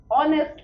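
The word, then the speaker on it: honest: सो दिखने में तो यह एच से शुरू हो रहा है, कंसोनेंट से शुरू हो रहा है। इस हिसाब से हमें ए लगाना चाहिए। मगर जब हम इसको प्रोनाउंस कर रहे हैं, ध्वनि किसकी आ रही है? ऑनेस्ट की। ओ की।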